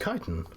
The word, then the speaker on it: chitin: Synthetic skin made from chitin. Oh, it's pronounced chitin.